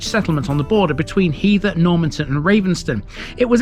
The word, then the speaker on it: Heather: It's not heather as in the stuff that grows on your average moorland. It's Heather because the name derives directly from the word heathland. In the Domesday Book it